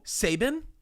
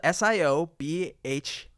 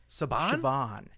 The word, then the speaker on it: Siobhan: of several famous people oh Saban spelled s-i-o-b-h-a-n it's not like the coach from Alabama no it is actually Siobhan Siobhan I just thought of